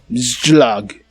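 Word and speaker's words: Czołg: So how do you pronounce this? This is basically Polish for tank. Let's see. Polish for tank. Yeah. Czolg.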